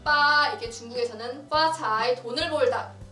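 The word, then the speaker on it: 八: 8의 발음 빠, 이게 중국에서는 화자이, 돈을 벌다, 돈을 벌다라는 단어 화자이와 발음이 비슷하기 때문이에요.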